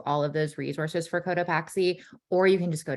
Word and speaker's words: Cotopaxi: Yeah, it is Cotopaxi. So we try to stay relatively true to the native Spanish pronunciation. But we don't judge. Cotopaxi is okay. Paxi, no judgment here. But yeah, Cotopaxi is the proper pronunciation.